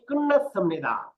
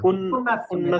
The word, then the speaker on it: 끝났습니다: গ্রামারের নিয়মটা বলছিলাম উচ্চারণের, যে ত ধ্বনির পরে বা ত ধ্বনি যদি বাচ্চিম হয় এরপরে যদি নিউন হয় তাইলে এই ত ধ্বনিগুলি কি উচ্চারণ হয়? নিউন নিউন উচ্চারণ স্যার। হয়। নিউন উচ্চারণ হয়।